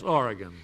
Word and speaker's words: Oregon: Mabel Wheatley of Astoria, Oregon. Did I pronounce that correctly, Miss Wheatley? Yes, Oregon.